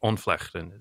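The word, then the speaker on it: ontvlechting: um the the name the name of this in dutch is called uh which we won't bother trying to use again but onflex is how it's said in dutch it doesn't really translate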